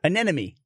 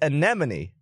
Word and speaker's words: anemone: who cares an enemy but it's anemone and i and to me that sounds wrong but i did write